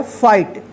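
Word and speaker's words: fight: एफ आई जी एच टी, इसको क्या पढ़ा जाएगा फाइट।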